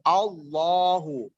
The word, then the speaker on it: Allah: Di sini dikatakan apabila ada kalimat Allah berada di awal kalimat atau susunan kalimat, maka dibacanya huruf tafkhim. Tafkhim itu seakan-akan huruf O. Allahu.